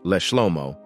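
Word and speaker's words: לשלמה: In the Psalms, specifically hymns 72 and 127, the Hebrew word leshlomo, pronounced leshlomo, appears in the titles.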